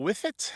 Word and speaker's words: whiffet: Sherry, you said cute little whiffet. How do you spell that last word? W-H-I, F as in Frank, F as in Frank, I-T. Whiffet.